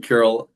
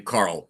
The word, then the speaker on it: Carl: So, again, Carol, I echo everything you're saying there. Uh, and you too, Linda. Perfect. Andrew, I'll just clarify. I pronounced my name Carl.